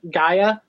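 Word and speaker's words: Gaea: It's spelled G-A-E-A, Gaia.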